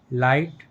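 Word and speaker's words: light: और GST letter में जी H silent है।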